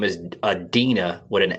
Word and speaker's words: Adeena: Her name is Adeena with an A. Like Dina, but put the A in front of Dina. So it's Adeena.